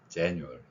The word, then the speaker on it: January: 그래서 저 발음을 한다면 January 이렇게 re 발음으로 표현하면 되는 것입니다.